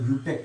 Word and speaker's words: IUPAC: Okay student, इसे pronounce करते हैं यूपेक नेम। क्या करते हैं स्टूडेंट? यूपेक नेम। ओके, है ना। इसे प्रोनाउंस क्या करते हैं स्टूडेंट? यूपेक। IUPAC को प्रोनाउंस करते हैं यूपेक, है ना। तो नेम नहीं लिखो, आप डायरेक्ट लिखो यूपेक।